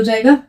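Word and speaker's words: jeux: एक्स तो ये हो जाएगा जू इसका प्रोनाउंस सेम ही रहेगा एक्स लगने से इसका प्रोनाउंस चेंज नहीं होगा प्रोनंसिएशन यहां पे जू है तो यहां प भी जू ही रहेगा ठीक है अ जू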